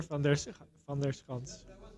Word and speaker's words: van der Schans: So my name is van der Schans.